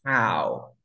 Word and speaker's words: how: How es Ok, este de aquí para la persona se pronuncia who. Who, por ejemplo, tú quieres decir quién eres. ¿Cómo sería? Who are, who are you? ¿Quién eres? y el otro es how. Este se pronuncia who y este se pronuncia how.